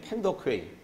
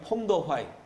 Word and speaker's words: 펑더화이: 그래서 그때 공산당 가운데 가장 잘 싸웠던 장군이 팽덕회, 이제 중국말로 발음하면 펑더화이.